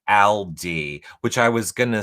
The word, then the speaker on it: Aldi: I wonder if Destiny's in TV Co chat says, I think you say it like Aldi, which I was gonna say.